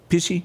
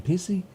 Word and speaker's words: Pesci: How you say it, Joe Pesci? Joe Pesci. Pesci. Pesci? Yeah. And I said, golly. I called him Pissy?